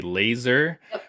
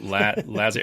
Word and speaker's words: Laser: So I've watched other people and yourself pronounce your name because I was initially going to say laser, which I'm sure is how most people probably pronounce it. So Lazar, and I even like